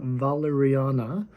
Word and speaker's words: Walleriana: to introduce the bibliotheca valeriana it's actually pronounced with a V because it's Swedish even though in English it looks like a w so think of valerian